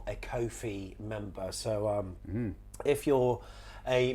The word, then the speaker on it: Ko-fi: If you haven't seen it, it's because you're not a Ko-fi member. So if you're a member of the that channel, was coffee. Kofi. It rhymes with no fee.